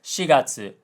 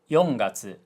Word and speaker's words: shigatsu: Now he mispronounced shigatsu April as yongatsu and his mom corrected it because he apparently hasn't seen shigatsu wa kimi no uso Your Lie in April.